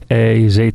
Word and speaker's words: Hez: find out h-e-z or it's in Spanish it's Ace yo I guess you'll